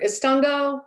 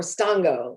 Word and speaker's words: Estonko: [pronouncing Creek word phonetically] And either Estonko or stonko, because a lot of times we just leave the "E" all the way off of it.